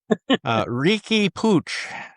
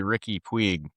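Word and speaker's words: Riqui Puig: Ricky Pooch. And it's folks, it's spelled, if you look at it, you'd think it would be Ricky Puig.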